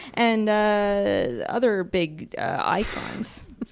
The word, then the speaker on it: Eikon: other big uh icons because we've decided to call them icons in this one yeah SP so that they can have iconic uh attacks I'm like oh I see what you did there yeah it's spelled EI k n and just when I